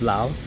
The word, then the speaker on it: Laos: I keep calling it Laos because it spelled Laos but it's actually pronounced Lao so I apologize for